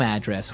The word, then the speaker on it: address: So different from your home address where you live. Yeah. And there the stress is on the first syllable. Address.